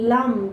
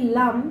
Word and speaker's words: লাং: লাম কথাটা লাম ল আকা আমরা কথাটা বলি লাম কিন্তু উচ্চারণ হচ্ছে লাং ল আকা অনুসর লাং এটাও যদি আপনি 108 বার বলতে পারেন আপনার রুট চক্র মজবুত হবে।